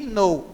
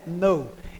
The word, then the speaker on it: know: Ou seja, não precisa vocês pronunciar o K. O K aí é mudo. Então não é que know, é know.